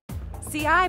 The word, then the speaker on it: Ci: ci pronounced c is sony's brand spankin